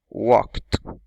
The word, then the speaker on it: walked: La pronunciación walked. Walked. She walked. Como con una T al final.